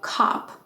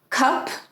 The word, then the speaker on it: cop: have an o spelling for example cop oh that's a cop right so it's not cup because that's a cup like a little cover you drink out of um but it's a cop like a police officer right which is really